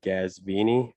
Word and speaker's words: Ghazvini: in Tallahassee Florida and the correct pronunciation of my name is Dr gasvini that's actually a Persian name my dad's from Iran